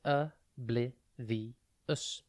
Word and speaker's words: oblivious: today's word is oblivious it is pronounced abl vus and it is spelled o b l i v i o u s think OB then live then EOS oblivious oblivious means not aware